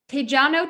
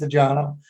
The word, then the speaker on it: Tejano: He says Tejano. So this is why. It's like jalapeno.